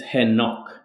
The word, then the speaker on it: Henok: Is it Henoch? It's Henoch. Like Henoch. Henoch. Yes. So like with a stress on the second syllable.